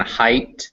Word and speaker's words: height: there do through thorough gh is most commonly not pronounced in english in words like knight and height they have ghs in them but you don't hear them uh they're written this